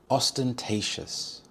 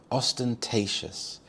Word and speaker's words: ostentatious: Ostentatious. Ostentatious. The stress is on the third syllable. T. Ostentatious.